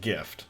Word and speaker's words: GIF: according to this it's pronounced with a hard g like gift however it says i